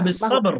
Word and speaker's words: بالصبر: كيف نقف في قلقلة باء؟ هل ماذا نقول؟ هل بشدة صبر أو صبر هكذا؟ لا ما هو؟ بالصبر، لأن القلقلة هنا متوسطة. بالصبر وبعدها حرف الراء، فيجب أن ننطق بحرف الراء، لا نتوقف على الباء، لأن يوجد بعد الباء حرف، فنحن أثناء القراءة نأتي بالصفة فقط ثم نمضي إلى الحرف الذي بعدها.